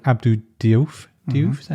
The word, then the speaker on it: Diouf: Diouf, is that how you pronounce it? Diouf, yeah.